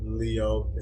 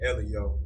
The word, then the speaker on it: L.E.O.: Well, the name is L.E.O. It's really L.E.O. pronounced the letters. But it's it's kind of interchangeable sometimes. People that's close to me just call me Leo.